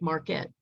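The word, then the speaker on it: Markert: mark hart mark hart his last name is spelled m-a-r-k-e-r-t mark hart but he said it sounds like marquette so mark hurt i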